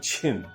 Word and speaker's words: Qin: बच्चा सबके बतेलिए कि चाइना में जो छिन डायनेस्टी छै, QIN, वो बड़ा मतलब छै। अगर अहाँ ओकरा हिंदी में कहबै, चाइनीज वे में प्रोनाउंसिएशन, तो ओकर मतलब हेतै छिन।